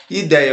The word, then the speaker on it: ideia: palavra ideia e 10 ideia olha aqui ó penúltima sílaba é mais forte ideia penúltima sílaba é